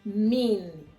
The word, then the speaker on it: min: That is the N word is mean. Mean in English I will spell it m i n.